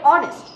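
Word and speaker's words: honest: মত হয় না কখনো কখনো অ এর মত উচ্চারণ হয় তাহলে এখানে কি উচ্চারিত হচ্ছে অনারেবল আবার এক্সাম্পল হিসেবে আমরা অনেস্ট কে ইউজ করতে পারি অনেস্ট এখানে তাহলে যদি আমি রুলসের মধ্যে এইচ এর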